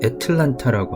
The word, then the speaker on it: Atlanta: 하여튼 그것도 애틀란타라고 하죠.